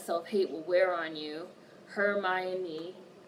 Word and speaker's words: Hermione: especially once Rhonda her Hermione I started to say it again her my Oni we got married he